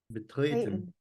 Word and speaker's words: betreten: Betreten. Betreten. As you can see there's a dash under the e here to help you remember to stretch the e.